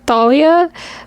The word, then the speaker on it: Thalia: And I really like Talia and Percy together. I know on the show they pronounce it Thalia, but I've been saying Talia my whole life because I literally knew